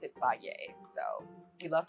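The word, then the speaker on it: Fage: it's spelled like f but you need to pronounce it Fay so you love Fay and we eat it every single day day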